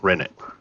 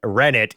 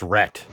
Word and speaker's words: rennet: using animal, plant, or microbial rennet. It has a grainy texture. And It's we hard and learned brittle. from Wintermute that the T in rennet is pronounced.